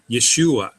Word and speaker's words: Yeshua: All right, now this is the name Yeshua. It has an open syllable at the end.